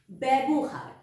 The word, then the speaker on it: ব্যবহার: বয় জ ফালা বয় আকার বয় শূন্য র ব্যবহার ব্যবহার তাহলে আমরা বয় জফালা কে আমরা কিভাবে উচ্চারণ করছি ব্যাভাবে উচ্চারণ করছি এখানে কিন্তু আমরা